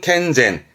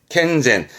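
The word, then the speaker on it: 健全: 그러죠 캔자 캔자 전자라 건전한 발음은 켄젠 켄젠 뭐 건전한 정신이라든가 켄젠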